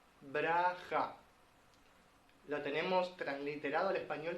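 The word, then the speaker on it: ברכה: En hebreo se pronuncia braja. Braja. Lo tenemos transliterado al español como una ciudad, que en la Biblia se le llama Beraka.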